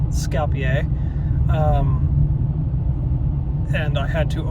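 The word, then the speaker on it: Skopje: I learned how to pronounce the capital of uh North Macedonia. It's called Scapier.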